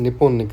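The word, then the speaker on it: Nippon: उनकी लैंग्वेज में, उनके प्रोनाउंसिएशन में जापान की कंट्री का प्रोनाउंसिएशन निपॉन निकलता है।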